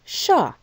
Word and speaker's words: chat: cat in french is sha the word for on the left is agosh okay and note that shah ends in a consonant that we don't pronounce le sha the cat so let's